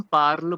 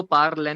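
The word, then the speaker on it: parlent: सो जो ENT वाला segment है उसको भी हम पार्ल बोलेंगे, बिकॉज लास्ट में टी साइलेंट रहेगा, और इसको पार्लन नहीं बोलेंगे, इसलिए इसको पार्ल बोलेंगे.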